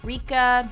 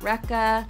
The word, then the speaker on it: Rika: of course it doesn't ah Rika not Rekha and definitely not Rachel what how do you